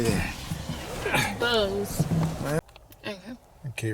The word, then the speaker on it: Bose: Big speakers, boys. Excuse me. Is that Bose or boys? How do you say that? Bose.